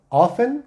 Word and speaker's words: often: Often, sin pronunciar la T.